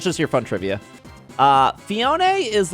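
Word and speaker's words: Phione: have uh manaphy and fionae this is the proper way to say fionae I know some people say fion or whatever you're wrong it's fionae it's okay uh I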